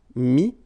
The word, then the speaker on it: mis: Okay, then E-T-T-R-E will give you this E-S, but then you don't pronounce the S, so you get I. Mettre, mi, and then E-N-D-R-E, I-S, but then same thing here, the sound I.